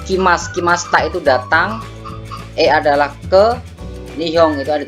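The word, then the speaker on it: へ: and he ya tapi e dari cut kowe iki Mas congek imasta ucie Christmas jakaruta e-gigi Mas jadi eh iya bacanya e bukan Hei tapi e Oke kita lanjut ke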